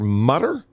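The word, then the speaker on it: Mütter: Mutter, but I believe if you add an umlaut, you're going to change the pronunciation.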